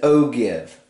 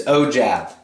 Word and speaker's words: ogive: lot of people say this right here as oh give i'm a culprit of doing this i've done